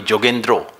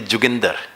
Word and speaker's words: Yogendra: would not like bengalis do not call me yogendra Bengali call me jendro and the Punjabi pronunciation of my name is juger so he would just